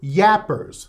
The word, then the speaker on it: gaper: They call them yappers. It's spelled G-A-P-E-R.